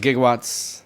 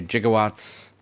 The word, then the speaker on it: gigawatts: Let's Take a Look doc was mispronouncing okay thank you Billet I thought I thought I had a decent memory cuz yeah I always thought it was gigawatts then he'd say jigawatts Okay mystery solved now